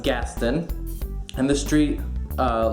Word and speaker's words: Gaston: the street that looks like it should be pronounced Gaston is actually pronounced Gaston and the street uh Lafayette which is after